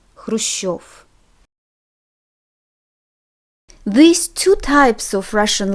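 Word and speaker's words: Хрущёв: Note that when we have letter yo in the ending becomes stressed, because letter yo is always stressed in Russian. So it's not Gorbachev, it's Gorbachev and Khrushchev.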